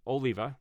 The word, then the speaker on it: Oliva: it says Jay someone said his name is pronounced Oliva uh Jay Oliva said Zack Snyder's DCU would